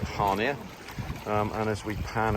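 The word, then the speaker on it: Chania: i a um so some of you may know it is chia but the locals call it hania um and as we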